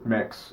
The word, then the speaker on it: Mx: As Nikki was saying, MX or mix, as people pronounce it, is being introduced into the Oxford Dictionary.